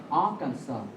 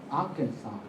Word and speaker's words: Arkansas: Arkansas. Arkansas. Arkansas. The final S is silent.